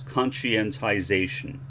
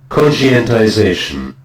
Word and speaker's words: conscientization: That is anglicized as conscientization. I like the way this guy says it, so I'll play you his pronunciation followed by mine. I like his voice. Conscientization.